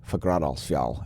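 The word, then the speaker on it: Fagradalsfjall: fagradosville yes forgrad also i learned how to pronounce it last week and now i'm delighted to say fagradocial and you can try to say it too if you like forgradosval go ahead let's let's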